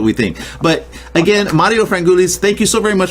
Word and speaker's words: Frangoulis: So it's Mario Frangoulis, and that's the way of saying it.